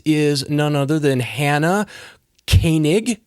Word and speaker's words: Koenig: And my guest is none other than Hannah Koenig. Koenig, right? I pronounced it right?